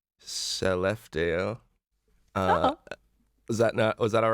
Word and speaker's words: Skellefteå: I'm going to try to pronounce the name of her hometown right now. It's Skellefteå.